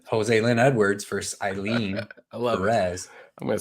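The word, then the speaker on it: Joselyne: I write it down no I mean phonetically that's how you would say it Jose Lynn Edwards vers EZ I'm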